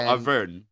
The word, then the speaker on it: Auvergne: I believe that, the G is silent, so Auvergne.